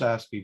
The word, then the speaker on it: ASCII: that's it's pronounced ASCII, but Oh, ASCII.